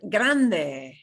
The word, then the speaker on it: grande: Next, we have the word grande. Grande. Grande. Big. GR Grande. makes a hard G sound.